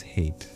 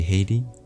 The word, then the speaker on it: Haight-Ashbury: I think it was Hate or maybe Haiti. No, Hate probably.